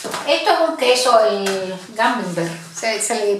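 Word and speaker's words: Camembert: Esto es un queso, el Gamembert, se le pronuncia así, cremoso.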